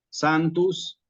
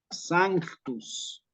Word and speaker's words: sanctus: lo mismo que sanctus la gente por ahí dice santo santo santo Santos no así Digamos como tal cual como lo escuchan No santus santus Santos en la misa en latín Sí pero la palabra en realidad tiene una c en el medio de tal manera que lo apropiado Es decir sanctus lo mismo aparece en